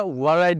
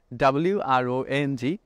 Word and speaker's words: wrong: এখানে কিন্তু ওয়ারং বলি না, আমরা বলে থাকি WRONG রং, ডাব্লিউ সাইলেন্ট থাকবে।